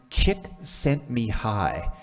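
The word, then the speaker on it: Csikszentmihalyi: Some of you may have heard of this fellow before, and I can actually pronounce his name. He comes to Calgary every 4 years. His name's Chick Sent Me High.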